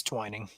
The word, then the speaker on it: Twining: Omar Omar uh Twining I said twinning but it's probably Twining Twining uh and then Prescott time to pop out the pronunciation guide it's Twining okay so regardless go uh